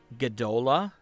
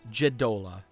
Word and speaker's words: Jadola: You know that is the symbol of Gadola. Or excuse me, Jadola. I just looked at my own pronunciation here.